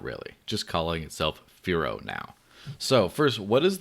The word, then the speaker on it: Firo: Like it was easy to say that, even someone in a different language can say Firo. It's 2 syllables.